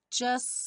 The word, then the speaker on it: just: Just singing in the rain. Aqui, just singing, ficou como se fosse um 2 S's. O T do just não é pronunciado.